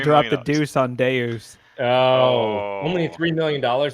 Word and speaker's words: Deus: funnier if it's Davis it's definitely Deus but it's funnier if it's Deuce Finance deuce deuce Finance hacked someone threw up the deuce on Deus oh only three million